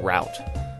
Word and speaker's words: route: we call it we we say root instead of Route um even though we call the machine router uh Wash oil theater